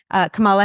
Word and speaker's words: Kamala: Listen, I'm Hispanic and the way it's pronounced in Spanish would be Kamala. And so I kind of go down that route.